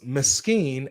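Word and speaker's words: مسكين: No, it's miskin and masakin.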